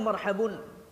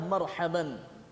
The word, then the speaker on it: marhaban: sengaja di sini tak pernah orang bilang marhabun atau marhabin padahal sebetulnya dalam bahasa Arab bisa saja kata itu berbaris damah berbaris fathah berbaris kasrah tapi tak ada yang mengatakan marhabun atau marhabin yang diucapkan adalah marhaban kalau kita kategorikan dalam